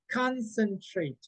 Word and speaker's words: concentrate: the word concentrate okay in the first syllable concentrate concentrate okay that's the stress in the leveling okay